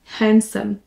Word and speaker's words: handsome: homme qui est beau handsome attention on ne prononce pas le D et on prononce comme s'il n'y était pas pas là handsome handsome